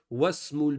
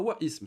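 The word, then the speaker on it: واسم: Ça veut dire que c'est un hamzatul wasli. C'est-à-dire que si vous voyez ça, et que le mot ne commence pas la phrase, ben, il faudra pas le prononcer. Les exemples, ils nous ont mis des exemples. Ismul waladi Muhammadun wasmul binti Zainabu. Ismul mudarrisi Hamidun wasmu, pas wa ism, c'est khata.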